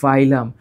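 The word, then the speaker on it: phylum: তো আমরা যখন শব্দটা উচ্চারণ করি আমরা তখন বলি ফাইলাম।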